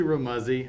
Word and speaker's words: Remuzzi: guest is Rhett remusi from capforge man am I saying that last name correctly it's actually real Muzzy I tell people it rhymes with fuzzy that's how you can